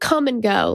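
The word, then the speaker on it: Kum & Go: It's called Come and Go, like the comings and goings. But tell them how it's spelled. But it's spelled K-U-M.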